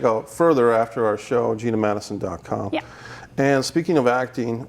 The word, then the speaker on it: Geena Matuson: name for the people oh it's spelled m80 uson so it's GE e na oh yes GE na ma tu som you know like Geena Davis I was named up